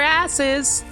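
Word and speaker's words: arse: asses okay so like I know it's spelled ARS but I think it actually is supposed to be pronounced like ass where's moo I need to healer there she is it's pronounced like ass with a British accent you don't fully say they are yeah ass you dumb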